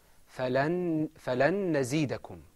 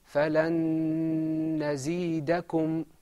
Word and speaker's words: فَلَن نَزِيدَكُمْ: In idgham, there's a lengthening of your voice, and I think you can hear it.